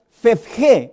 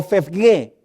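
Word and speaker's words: φεύγε: que tiene que ver, que se pronuncia fefge o fefge.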